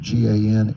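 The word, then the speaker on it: Gansevoort: You can pronounce it Gansevort, New York.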